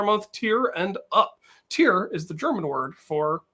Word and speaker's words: Tier: Tier is the German word for animal or mammal, because I know that sloths are Faultiers, which means lazy beast. But however, in German, it's pronounced Tier, like Faultier.